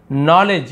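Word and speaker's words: knowledge: उसे इन्वेस्टिगेशन कहते हैं नॉलेज यहां पे के साइलेंट रहता है है ना और डी भी साइलेंट है नॉलेज यानी ज्ञान लीडरशिप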